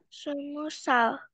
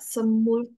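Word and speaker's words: 스무 살: Semusal. Semusa, kenapa nggak semul? No, kan awalnya 20 itu semul.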